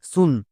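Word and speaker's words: soon: হস্তুকার সাউন্ড করে দেব যেমন এস এস এর জন্য দন্তস এবার এখানে দেখো ডবল ও আছে ডবল ও দেখতে পেলেই হস্তুকার করে দাও তাই হস্তকার তাহলে কি হলো এস ডবল ও মানে দন্তস এ হস্কার নেক্সট এন এন এর জন্য দন্ত নো এবার একসঙ্গে উচ্চারণ করো এস ডবল ও এন সুন সো এরকম করে মনে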